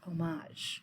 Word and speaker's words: homage: also heard it's pronounced homage I wonder what the computer says homage they said they pronounce the h homage English is such